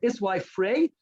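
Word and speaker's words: Esawi Frej: So Iswai, I've heard his name pronounced many times, both his first and his last name pronounced differently many times. So we'll go with Iswai Frey, is the one I've heard most pronounced.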